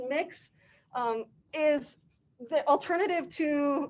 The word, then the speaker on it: Mx: fluid um and mix mx here pronounce mix um is the alternative